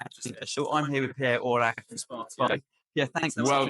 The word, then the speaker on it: Orlac'h: I'm here with Pierre Orlac'h from Sparteo. Yeah, thanks. Well pronounced.